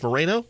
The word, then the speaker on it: Moreno: as well the wonderful miss rita moreno miss moreno it's a pleasure how are you today i'm